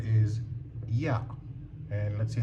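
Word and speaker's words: ياء: So, next letter is ya. And let's see how we write it. The ya is like this. Looks like a ba, right? But it has an extra curvature. This is the ya.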